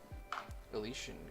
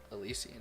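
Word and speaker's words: Elysian: do moot green and alician green elisian elisian is how I think it's actually pronounced but you know sometimes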